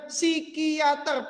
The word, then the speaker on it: psikiater: Bacanya psikiater, P-nya nggak dibaca. Psikiater, P-nya nggak dibaca.